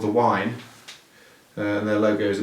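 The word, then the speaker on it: Waen: And the beer is called The Wine, and their logo is a big W like this. Wine is spelt W-A-E-N, so it's The Wine Brewery, Llanidloes, mid Wales.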